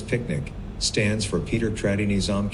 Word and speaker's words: PQNK: PQNK, to be pronounced as picnic, stands for Paedar Qudratti Nizam Kashatqari, which means Sustainable Natural Farming System.